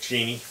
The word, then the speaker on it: Cheney: of a cowardly warhawk you are welcome dick cheney and that is the correct pronunciation of cheney's name arthur belmont osborne iii